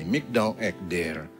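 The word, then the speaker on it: מגדל עדר: Bacanya dalam bahasa Ibrani, Mikdal Ekder. Apa Miqdal Ekder itu?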